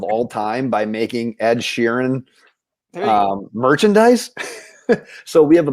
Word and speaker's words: Sheeran: being serene i think you're even saying it wrong ed sheeran sharon it's sheeran scissors hand mm-hmm okay